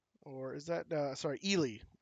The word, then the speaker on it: Ely: Flour going to Eli. Or is that, sorry, Ely. I've pronounced this Eli forever, and it is incorrect. It's Ely.